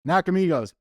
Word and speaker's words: Nakamigos: give you a hint it rhymes with box of Nemos thank you mid Journey love that knock Amigos nakamigos 318 Heath from knock